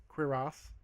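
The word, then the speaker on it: cuirasse: Yeah, he's doing the R thing. Yeah, it's got a funny little trill on the R.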